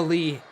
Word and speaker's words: Li: It's Lee, not Lee. Oh, how it's spelt.